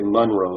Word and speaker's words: Monroe: You have to say Monroe if you're from the mountains.